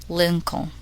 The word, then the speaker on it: Lincoln: The letter L is silent in the following words. Listen and repeat each word after the speaker. Half, halves, self, cool, shoe, wool, Lincoln.